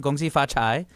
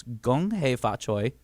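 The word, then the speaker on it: 恭喜發財: Gong hei fa choi, everybody. For all my Cantonese speakers, for my Mandarin, gong xi fa chai.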